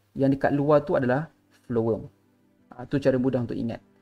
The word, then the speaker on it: phloem: Flowworm. Okay, so saya tulis sini ya. Flowworm.